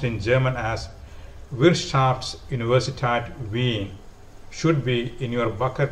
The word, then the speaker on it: Wirtschaftsuniversität Wien: Vienna, which is the university is also is pronounced in German as Wirtschaftsuniversität Wien, should be in your bucket list of choices